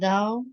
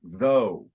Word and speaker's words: thou: end of the verse you improved your pronunciation of thou now you because you said that first like though okay and though is